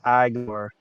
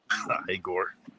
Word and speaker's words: Igor: It's pronounced Igor. Igor.